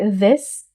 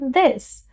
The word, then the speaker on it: this: हम इस शब्द को सही तरीके से एक्सेंट में टंग को टीथ के पीछे रख के प्रोनाउंस करेंगे। दिस, दिस, टंग को टीथ के पीछे लाइटली प्लेस करके कहेंगे दिस, नॉट दिस, दिस, दिस, दिस।